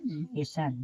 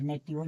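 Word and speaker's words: nation: जैसे एन ए टी आई ओ एन नेशन देखिए टी के बाद आई ओ एन दिया है। नेशन नहीं कि नेटियो पढ़ेंगे। नेटिवन नहीं इसे नेशन पढ़ेंगे।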